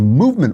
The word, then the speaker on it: MVMT: They leave out the vowels. It's spelled MVMT, so you don't have to pay for all those expensive vowels.